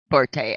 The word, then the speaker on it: forte: never been my um Forte um properly pronounced Sports by the way Porter is a mispronunciation but that's a trivia discussion in our household thank you